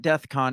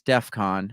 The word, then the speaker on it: DEFCON: know first of all it's not death con it's Defcon right so the fact